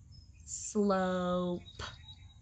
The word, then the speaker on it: slope: so the e makes the o say its name but i start here with a blend sl slow slope slope b makes the o say